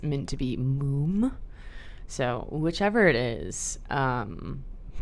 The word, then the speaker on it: múm: It was intended by the artist to be more of a sound. So, I do think it's moom.